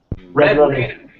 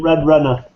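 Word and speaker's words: Red Renna: Red Raina. Red Raina? Yeah. All right, I gotta check that out too. It's RENNA. Red Raina. Link us in the chat. Yeah, she pronounces it Red Renner.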